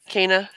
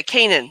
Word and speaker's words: Canaan: Israelites inheritance of Cana is that how you pronounce it Cana the the land area okay yeah Canaan there we go there's an end in there I don't know it